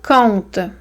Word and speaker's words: compte: Mais là, on a encore le même son, c'est conte, mais ça ne s'écrit pas de la même façon.